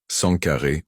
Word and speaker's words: Sangaré: Les Sangaré est un jamou d'origine peul, parfois prononcé et orthographié Sankaré ou Sankara.